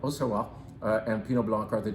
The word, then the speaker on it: Auxerrois: Pinot Blanc and a hard to pronounce grape. When you see it in writing, you're gonna say, how the hell do I say that? Is that Auxerrois? No, it's Auxerrois, something like that, Auxerrois.